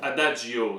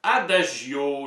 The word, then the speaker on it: Adagio: tu connais le mot Adagio Adagio ça se prononce des deux manières Adagio le terme musical Adagio